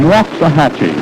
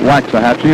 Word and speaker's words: Waxahachie: Richards comes from Waxahachie. He tells me that's the way to pronounce it down in Texas. We've been calling it Waxahachie, and we apologize now to every citizen of Waxahachie.